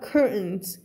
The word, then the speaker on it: curtains: eaten Velvet curtains คำ นี้ ออก เสียง ว่า curtains curtains ตัว T ไม่ มา นะ คะ cur